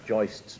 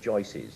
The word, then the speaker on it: joists: I love the way you said you actually pronounce joists properly, because good builders always say joices.